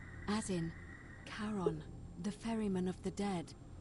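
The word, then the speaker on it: Charon: it's just as you described it only your pronunciation is a little off the name you heard wasn't Karen it was c h a r o n add in karon the Fairman of the Dead karon who in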